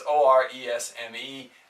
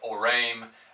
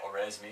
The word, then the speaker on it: Oresme: It looks like it's spelled, it's Oresme. I don't think it's pronounced like Orame. In English we might just say Oresme, so we know who we're talking about.